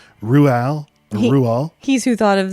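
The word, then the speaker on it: Roald: starts off with him saying how you actually pronounce it it's Ruel Ru he's who thought of the pronouncing feature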